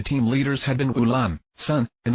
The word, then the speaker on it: SSSN: A few minutes later, Ulan, Gianos, Melania, and Itri were named Team UAMI, pronounced Ultramarine. Sun's team arguably got off the best with Team